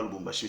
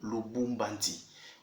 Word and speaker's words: Lubumbashi: Ce n'est pas Lubumbashi, c'est le Lubumbanti.